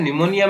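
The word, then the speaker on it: pneumonia: Psychology में P है वो साइलेंट रहता है, निमोनिया में भी P है वो साइलेंट रहता है।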